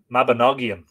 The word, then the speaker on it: Mabinogion: Oh, Nog as in bog, Mabinogion. And Yon as in the center of Yon, Mabinogion. That's very helpful.